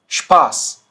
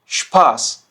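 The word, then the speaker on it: Spaß: अब ये कैसे साउंड करेगा, देखिए स्पोर्ट, स्पोर्ट, स्टूडियो, स्टूडियो, स्पास, स्पास। तो देखिए ये श साउंड कर रहा है, ठीक है। चाहे इसके आगे पे हो या टे हो, ये साउंड करेगा श, ठीक है।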